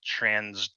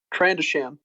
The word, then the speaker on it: Trandoshan: wrong on how you say it, but a Transrodian? Trandoshan.